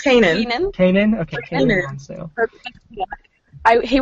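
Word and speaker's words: Keenan: And then when they found out that they cast, like, how do you say his name? Is it Kanan? I think it's Kanan.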